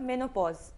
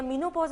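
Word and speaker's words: menopause: मेनोपॉज इज the more fashionable and the correct pronunciation. वैसे तो चलता है सब कुछ, क्योंकि अंग्रेजी हमारी अपनी जबान नहीं है।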